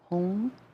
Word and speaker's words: HUM: The Tibetans pronounce it more H-U-N-G, home.